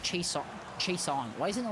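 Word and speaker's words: Chason: but his name is spelled c-h-a-s-o-n yeah it's pronounced chase chase on why isn't it like chassis no because we're taking advantage of english being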